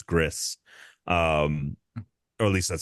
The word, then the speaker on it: Gris: couple years ago yeah um that's how you pronounce that I always thought it was yeah I thought it was GRE yeah but it's it's Gris um or at least that's how the developers